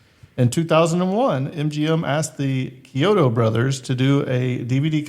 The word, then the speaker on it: Chiodo: Chiodo.